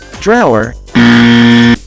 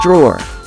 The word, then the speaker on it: drawer: it as graduate drop the e at the end of the word so instead of saying drawer you say drawer if you're referring to